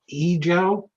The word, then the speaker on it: Yizhou: So with this, I'll hand it off to, I asked him how to pronounce his first name, Yizhou.